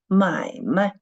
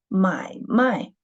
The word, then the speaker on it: 买卖: If we read it, the second syllable of the neutral tone, it means business. 买卖. But when we read the word 买卖, the second syllable was read the fourth tone, 买卖. So it means to buy and sell.